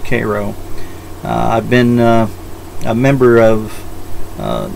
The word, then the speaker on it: Cairo: Georgia ojas spelled like Cairo but it's actually pronounced Cairo I've been a member of nya's YouTube for